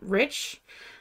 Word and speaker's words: Reich: Because we grew up pronouncing our name Rich because of the Nazis.